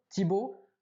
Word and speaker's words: Thibaut: Prenez mon nom, Thibaut, 8 lettres, phonétiquement parlant, on peut écrire mon nom avec 4 lettres.